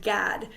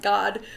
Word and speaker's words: Gad: with the tribe of GAD sometimes people in Hebrew it would be pronounced God but since that sounds so much like God we're going to go